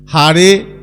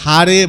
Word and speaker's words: হরে: এখন যারা বলছে তারা বিদেশি, বিদেশিদের জীবের জিহ্বার গঠনটা এমনভাবে তৈরি, তারা এমনভাবে বলা অভ্যস্ত, তারা অয়ের উচ্চারণ করতে পারে না, তাই ওরা আয়ের উচ্চারণ করে, কৃষ্ণা বলে, হারে বলে।